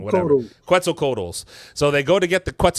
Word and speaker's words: Quetzalcoatlus: I always say that name wrong. Whatever. Quetzalcoatlus.